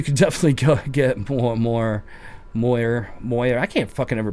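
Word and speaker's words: moiré: It's MOAR.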